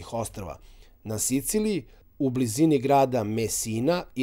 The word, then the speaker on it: Messina: to the city of Messina or in Serbian accent: Mesi-na Aeolian Islands are also